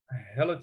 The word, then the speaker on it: hella: If I were in California, especially Northern California, they might say, I'm hella tired. hella like hell of tired. Like, yes, like HELLA, hella.